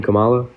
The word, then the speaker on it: Kamala: Kamala? Is that not how you say her name? Kamala? No, Kamala.